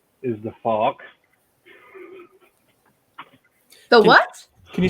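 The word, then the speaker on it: Fouke: Well, this fella's name is the Fawk.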